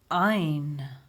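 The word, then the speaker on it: ע: This letter, when we pronounce it, it sounds from the throat a bit like oh, oh, like the name Omar, the Arabic name Omar. However, nowadays most Israelis will pronounce it like Aleph.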